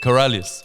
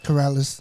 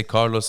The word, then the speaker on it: Karaliazus: my name yeah correct Corrales Corrales but you can just say k you could say Carlos like uh you know a lot of my Arab friends when they just see that name they just go like Carlos yeah because when I